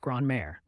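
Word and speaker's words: grand-mère: often seen as wise and experienced grandmother is grare pronounced gr May grandmothers are known for their warmth and kindness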